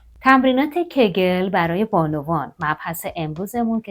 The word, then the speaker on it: Kegel: روی کجا تمرکز داره تمرینات کگل که حالا کیگل هم تلفظ میشه روی عضلات کف لگن